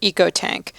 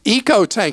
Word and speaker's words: EcoTank: for the Epson printer ecotank may I settle it for you once and for all it's a long e so think economy ecology eco-friendly or e-commerce West and West okay I can't